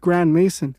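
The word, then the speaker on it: Grandmaison: Even his last name is suspicious, as it's pronounced Grand Mason.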